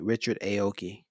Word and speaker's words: Richard Aoki: the wrong thing yeah I said it right Richard Aoki so Richard Aoki has this um did an